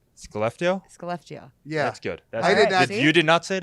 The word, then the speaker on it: Skellefteå: Skellefteå.